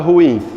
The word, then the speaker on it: ruim: O grupo fonético UI ou IU, quando ela está anterior a MN ou R, o que é que acontece? Elas se separam. A palavra ruim se separa dessa forma. Qual é a sílaba tônica da palavra ruim? Ruim, ela é o que, gente? Oxítona.